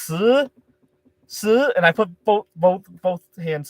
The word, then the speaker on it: 十: In Chinese, 10 is pronounced 十, and I put both hands up that time because I was so tired.